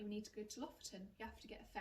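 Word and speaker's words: Lofoten: and you're heading north you must be going to loferton okay i'm sure that's not how you say it but you know what i mean l-o-f-o-t-e-n it's like lotherton what's loft it's like you must go to lofton it's beautiful and essentially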